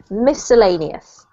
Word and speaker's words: miscellaneous: This one here doesn't have a C sound, a hard C. It just is miscellaneous.